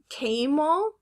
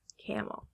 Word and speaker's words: camel: good it is label next word is it came all or camel yeah camel now is it magic